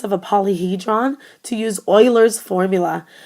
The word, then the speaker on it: Euler: a polyhedron to use Oilers formula the best way to pronounce this word is Oiler it's kind of like this Oiler formula and this is